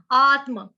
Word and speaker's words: आत्म: आत्म, आत्म, ठीक, ये सबके लिए कॉमन वर्ड है, आत्म, आत्मा सबको आता है। आत्म, अघात है, अघात क्यों है, क्योंकि आधा त है और म है।